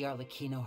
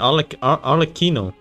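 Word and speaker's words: Arlecchino: you're pronounce her name on Aquino I thought it was like arleck and then Chino but I must have read a written uh read this and read this in the in Chinese pronunciation on The Kino to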